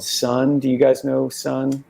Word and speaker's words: Sunn: was writing a piece about this band called Sun. Do you guys know Sun? Sun. No, It's spelled SUNN with like an O, and they're